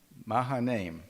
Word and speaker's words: Mahanaim: Mahanaim. Thank you. That helps. Yeah, Where do you put the syllable?